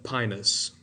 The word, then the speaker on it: Pinus: You pronounce that pinus, by the way.